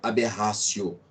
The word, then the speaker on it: aberratio: Escreve aberratio ictus, pronúncia aberratio. O T, em latim, tem som de C, aberratio ictus, ok?